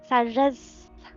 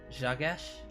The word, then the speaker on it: Sagesse: It's with a je, apparently. Sagesse. What? Jagesh? Sagesse. Sajesh? That sound like sage in French.